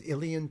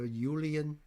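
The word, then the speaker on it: uilleann: And even Chris O telling me how to pronounce illen pipes instead of ulen.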